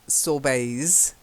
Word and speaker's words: sorbet: sorbet so you've got these different sorbets just silent T then gold leaf is